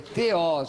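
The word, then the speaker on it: θεός: A palavra grega para Deus é theos, é um nominativo singular masculino de segunda declinação, não é theos, é theos, a pronúncia, de acordo com a pronúncia erasmiana, Cambridge, theos.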